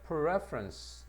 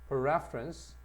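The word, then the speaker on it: preference: 따라서에 perference 명사가 되면 강세가 앞으로 갑니다. perference 그다음에 perferable 형용사가 되면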